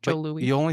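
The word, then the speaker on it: Jos. Louis: It's spelled JOS space LOUIS, but it's pronounced Joe Louis.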